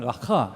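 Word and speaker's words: ראה: 이 히브리어가 지금 우리 컴퓨터에 안 들어가가지고 폰트가 안 들어가서 깨져 있습니다만은 라하라고 하는 하자 발음, 라하 이렇게 발음을 하죠.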